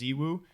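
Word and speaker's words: ZywOo: I would imagine you're correct, because I think Zaiwu from CSGO is actually pronounced Ziwu, but everyone just says Zaiwu.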